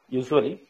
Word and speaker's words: usually: how will you huh usually usually usually you had a j j in your pronunciation so try to avoid that usually all right and